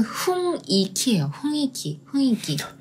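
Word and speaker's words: 雰囲気: 분위기는 훈이키예요. 훈이키 해볼까요? 훈이키. 발음 좀 어렵죠?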